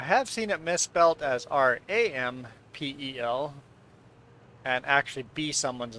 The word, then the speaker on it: Rempel: Because in Plotich, everybody pronounces it Rampel. Rolling R, Rampel.